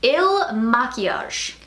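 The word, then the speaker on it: IL MAKIAGE: glam bag plus and i looked up a whole bunch of different youtube videos on how to pronounce this brand and i think i got it right this time it is ill machias so hopefully i'm pronouncing that right finally but this is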